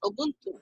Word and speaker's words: Ubuntu: the linux based os we have the ubuntu pronounced as ubuntu it is an open source debian-based linux distribution